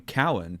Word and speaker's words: Keown: And but he always pronounced it Cowan.